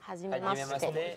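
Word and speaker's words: はじめまして: ¿Cómo se pronuncia? Hajimemashite.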